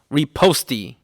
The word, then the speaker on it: riposte: Riposte. man, That's how you pronounce it in America.